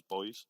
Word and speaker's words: buoys: pronounce it differently brilliant in in british english we would just pronounce that as boys oh it's the same as yeah yeah yeah boys you say bowie wicked cool yeah awkward